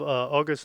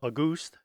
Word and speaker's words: August: Its intent was really to have August Nagel, perhaps that's pronounced August because he was German, to produce a 35mm